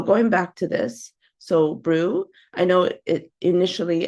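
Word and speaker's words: BRUE: back to this so Brew I know it initially a lot of us will pronounce it Brey but the correct uh way for it to be pronounced is Brew just like you're Brewing something so what is Brew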